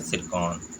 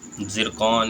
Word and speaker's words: Tsirkon: तो रूस द्वारा विकसित हाइपरसोनिक मिसाइल का नाम है सिरकॉन। ठीक है, जिरकॉन या सिरकॉन। ठीक है, ये स्पेलिंग है इसकी, TSIRKON, सिरकॉन।